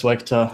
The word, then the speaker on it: SWEGTA: Or am I even pronouncing your name right? Yeah, it's SWEGTA.